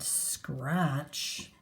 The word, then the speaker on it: scratch: kitten could hiss and scratch, because that's something kittens can do very well. Scratch has this silent T in there.